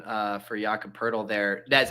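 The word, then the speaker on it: Jakob Poeltl: that that actually just as Mike nailed the pronunciation uh for yaka purle there that's how did Charles Barkley anoun the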